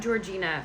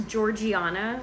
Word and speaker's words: Georgiana: her name is not Georgina. I want to keep calling her that. Her name is Georgiana.